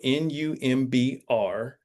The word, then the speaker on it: Numbr: Okay, and it's spelled Numbr. There's no E, U. So Numbr, and then Nation is how you spell the Instagram handle.